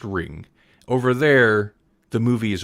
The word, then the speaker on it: Ringu: apparently the U is you just don't say the U it's just ring over there the movie